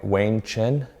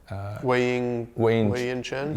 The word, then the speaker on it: Wei-Yin Chen: So the most engaged athlete on Facebook last year, MLB player, is, I'm going to say his name way wrong, Wayne Chen. Wei-Yin Chen?